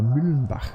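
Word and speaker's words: Müllenbach: So I think that corner was named after the neighboring city, so that would be Mollenbach. Or Mühlenbach, to say it like with proper German pronunciation.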